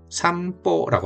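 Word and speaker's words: 散歩: 산보일까요? 삼보일까요? 삼뽀일까요? 음. 제 닉네임입니다. 제가 산책을 좋아하거든요. 산책을 일본으로 삼보라고 합니다. 삼보라고 있는게 제일 가까워요. 왜냐면 삼 입술이 다물리는 거니까 미음처럼 들리죠. 우리나라가 산라고 해 산 이렇게 하면 발음이 오히려 어렵죠. 삼 미음이 편하죠. 그죠? 다음에 뽀인데이 포피포가 뒤로 오면 좀 세게 발음된다고 했으니까 보보다는 포가 같겠죠. 3포 혹은 3보 이렇게 발음하시면 되겠습니다.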